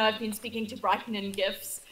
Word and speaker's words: GIF: been speaking to brightening gifts it's sometimes just easier to show someone than explain how to do it yeah and you have to pronounce a gift because jiff is just a laughs when you turn